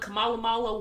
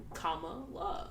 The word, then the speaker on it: Kamala: he was like kamala kamalamala whatever looks like girl it's come on love like kamala kamala kamala harris like it's not hard to pronounce kamala's name like comma love like dude i don't